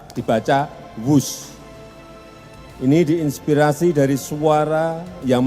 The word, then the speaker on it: Whoosh: operasi optimal sistem hebat sekali lagi w h o o s h tapi membacanya wus selain memiliki nama yang